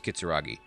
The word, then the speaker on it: Kitsuragi: or kitsuragi i'll have to see how they pronounce that yeah it's kitsuragi um and looks like he has a pokemon